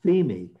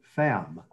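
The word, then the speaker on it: Pheme: and at first i because it's a greek name i thought it was femi but she pronounces her name femme and she's also a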